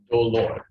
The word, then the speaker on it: dolor: Dolor. And which one is accent? It's going to be lor.